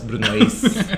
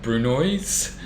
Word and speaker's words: brunoise: first time when i learned how to pronounce bruno as was brunoise yes even in english it's the same yeah so yeah it's like brunoise yeah julienne julian no